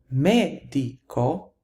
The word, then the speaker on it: medico: However, medico, the stress falls on the third to the last syllable, and therefore the plural is going to be medici.